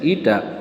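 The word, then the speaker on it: η: eta that is coefficient of viscosity which is pronounced as eta so if you make the viscous force here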